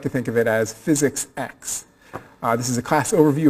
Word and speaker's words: Physics X: X is um pronounced physics X is not physics 10 you didn't miss nine lectures and suddenly mucking on the 10th at the room in numeral 10 so it's here we go